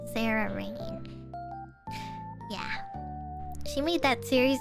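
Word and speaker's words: Cerarain: or something like that it's uh c e r a r a i n that's how you say it Sarah rain yeah she made that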